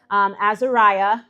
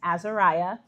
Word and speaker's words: Azariah: Her name is Azariah. I was saying it wrong until we got there. I was saying Azaria, so it's Azariah.